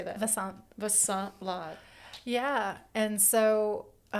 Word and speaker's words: Vasant: Vasant.